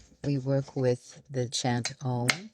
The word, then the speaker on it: Om: It's one word, O-M. But how it's worked with vocally in the mouth, it's you go through the vowels. Ah, O, So, ow is how it's actually pronounced when you're working with deep chant work.